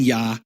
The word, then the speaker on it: Yah: And you see this in Yah, which in the poetic form of the name, Yah is the emphasized syllable.